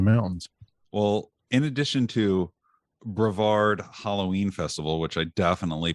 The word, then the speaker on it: Brevard: as a Halloween festival at the time it's pronounced Brevard okay well there you go I've never been I I grew up about 10 minutes from Brevard okay so edit that out no Brevard Halloween festival and just for everybody listening at